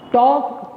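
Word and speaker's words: talk: बीच नहीं रहे है तो L यहां साइलेंट होता है टॉक टॉक नहीं बोलते टॉप टॉप टॉप व्यंजन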